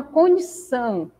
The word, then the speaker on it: condição: Na palavra condição, então, a sílaba são se destaca mais que as outras.